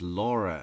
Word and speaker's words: Laura: Fantastic lawyers Amber less less so right Amber laer oh it is Amber Laura so she up just introducing